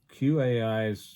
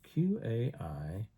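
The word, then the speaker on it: Q.AI: Q AI. Let's see what it tells us. Let's see what those 15 words are, shall we? Q A. And it's it's spelled Q period AI.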